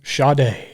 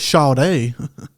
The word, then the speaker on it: Sade: be first and I'm GNA go with some shade shade yeah is that how you say it